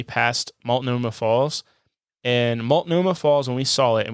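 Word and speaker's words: Multnomah Falls: off of Route 101 awesome next number Seven maltoma Falls 30 minutes from Portland and 3 and 1 half hours from Seattle you nailed it man you got that pronunciation uh nailed yep malt Noma Falls uh I I believe that it's the tallest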